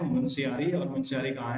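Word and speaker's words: मुनस्यारी: Spelling, but ये ध्यान रखो, नाम ध्यान रखो, प्रोनाउंसिएशन ध्यान रखो। इट is Munsiyari Pithoragarh.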